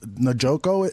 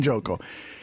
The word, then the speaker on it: Njoku: Now, this guy, Njoku is how you pronounce Njoku. It? Njoku.